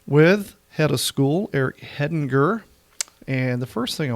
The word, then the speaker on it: Hedinger: they pronounce it wrong a lot of people pronounce it wrong that's kind of the fun part of it uh heading G heading jur there's probably some other